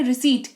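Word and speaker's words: receipt: क्यों लॉजिक वही है पी के बाद टी लगा हुआ है जिस की वजह से पी जो है वो साइलेंट रोल अदा कर रहा है यहां पर लिखा तो जाएगा पर पढ़ा नहीं जाएगा रिसीप्ट नहीं रिसीप्ट पढ़ेंगे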